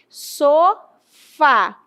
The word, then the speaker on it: sofá: Quem é a mais forte? Você vai dizer com certeza que é o fá, beleza? E aí o que acontece? Esta palavra tem acento tônico, o fá é a sílaba tônica, o fá é o forte, então existe o acento